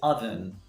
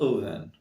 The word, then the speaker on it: oven: you say ovum no sorry it's not correct we see oven oven oven for example put the chicken in the oven put the chicken in the oven put the chicken in the oven so it's not open great next word can